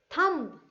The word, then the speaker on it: thumb: Thumb, thumb, right? So H is silent here.